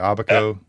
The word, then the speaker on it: Abaco: Uh, the Abaco Islands, I think I'm pronouncing Abaco. That's it. Okay. Correct. I was just giving you the right pronunciation.